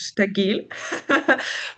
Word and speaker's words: STAGIL: So I'll pronounce it as STAGIL, but the correct, as it is a German word for the word stabil, and it's like stable. It should be pronounced as STAGIL.